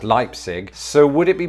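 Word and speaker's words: Leipsic: reddit it's actually pronounced lipsic is that right is it similar to lipstick as opposed to leipzig next up is a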